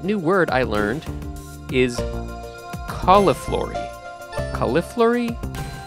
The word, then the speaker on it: cauliflory: it is spelled uh c a u l i f l o r y I think and uh I'll just say cauliflory it kind of sounds like cauliflower which is interesting um and actually the